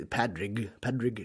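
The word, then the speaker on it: Pádraic: Colin Farrell's, is it Porrick? It's like Patrick. We would say Padrig. I think everyone on screen calls him Porrick, don't Porrick, they? yeah. But it's spelled Padrick, I think, in the credits.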